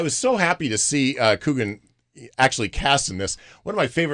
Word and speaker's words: Coogan: And then Steve Coogan, is that how you pronounce his name?